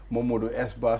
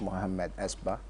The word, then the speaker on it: Mohammed Esba: call him Modu Esba, sometimes you call him different names. So I think it's simple when we call you MS Ba. You are welcome. Yeah, I think it's not difficult. It's just Mohammed Esba.